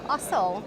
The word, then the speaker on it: Ossel: And we have Ossel. Is that the right way to pronounce the surname?